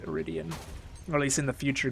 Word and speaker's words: iridium: an excellent scientist although she says ariden which i'm pretty sure it's actually pronounced iridium at least in the